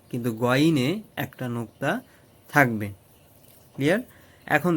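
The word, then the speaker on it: غين: এরপরে যে হরফটা আমরা শিখবো সেটা হচ্ছে গইন, যেটা বাংলায় আমরা বলছিলাম গয়ের মতো।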